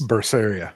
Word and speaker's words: Berseria: so this is another name that's hard to pronounce Tales of berseria I think it's berseria yes berseria I hate that they censored this